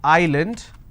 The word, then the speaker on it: island: solution all right but if i have a word which is island i don't pronounce this as island so s is silent here okay for example if i